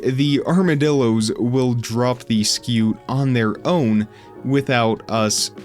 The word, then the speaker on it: scute: they will drop sco well apparently it's pronounced skew I have been saying it wrong all along all these years that I have been saying scoot it is really skew anyway they drop that